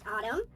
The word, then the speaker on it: Atum: The Smashing Pumpkins have announced their new album Atum, pronounced Autumn, a 33-song rock opera